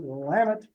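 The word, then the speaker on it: Willamette: I noticed um um Cheryl calls it wamit everybody from Oregon calls it wamit um here we we mispronounce it as well that men pronounce lots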